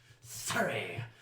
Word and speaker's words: Surrie: Surrie. Rhymes with fury.